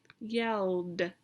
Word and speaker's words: yelled: l yell yelled yelled so in this word the idi sounds like a yelled and let's look at